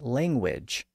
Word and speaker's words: language: So this was the same phenomenon we saw earlier in a word like language, which acquired a W sound after the letter U was added to the word.